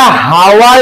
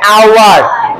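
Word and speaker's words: hour: ওটা, হ্যাঁ, ওটা হাওয়ার নয়, এইচ এর উচ্চারণটা হয় না, ওটা হচ্ছে আওয়ার।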